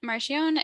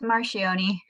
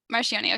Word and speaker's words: Marcioni: Wise program so Allison marcione is am I pronouncing your last name right it's marcioni marcioni okay Allison marcioni is